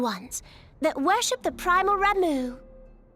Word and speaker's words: Ramuh: I always said Ramba. Ramuh.